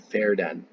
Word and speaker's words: Verden: in a place called fair den so I remember in German V's are pronounced like an F so I say fared